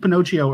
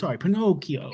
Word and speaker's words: Pinocchio: So you kind of, I mean, we mentioned Pinocchio earlier on the show.